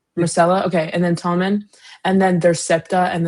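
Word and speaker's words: Myrcella: My Marcella. Marcella.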